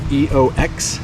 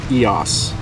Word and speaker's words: EOS: Some people are saying EOX, some people are saying EOX, but it is actually pronounced like it has an S on the end. So EOS.